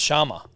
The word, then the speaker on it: Chammas: to first talk about Shamas. Michael Shamas. Uh, is have we been saying it wrong? It's Sharma the way that um Pereira says it.